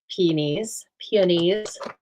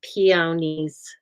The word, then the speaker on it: peony: I did add some peonies. My mom said, don't say it like that. It's peonies. And I said, no, it's either. And I peonies sounds weird. It sounds like pea.